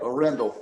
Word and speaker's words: Arendell: It's Arendell, right? Arendell? Yep, Arendell.